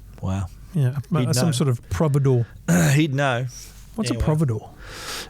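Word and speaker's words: providore: So cheeses, but is it pronounced providor or provider? Providor, I thought it was.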